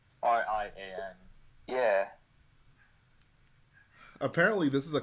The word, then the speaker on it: Rian: pronounces Ryan Johnson because it's not spelled like Ryan. It's spelled like. It's spelled like Ryan. It isn't. It's not like M&R Productions Ryan. It's like. Rian.